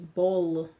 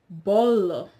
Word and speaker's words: bolo: the word for cake the Europeans will pronounce it as Bowl right and the Brazilians would say bolo bolo so the Brazilians talk